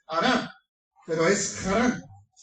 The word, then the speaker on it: Harán: una región llamada Harán, en hebreo, o Harán en español, porque la H es muda, como se escribe con H, en español es muda, la H, por eso se dice Harán, pero es Harán.